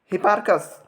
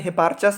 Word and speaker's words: हिपार्कस: अब आइए हम लोग देखते हैं हिपार्कस। कहीं कहीं हिपार्चस भी इसे लोग उच्चारण करते हैं।